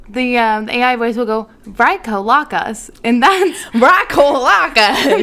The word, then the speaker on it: Vrykolakas: The Vrykolakas. It's spelled Vrykolakas.